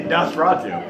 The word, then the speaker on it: Nosferatu: stephen king's son called nosferatu and uh if you look at the letters you'd pronounce it differently but just enunciate it and it's actually nosferatu kinda like when you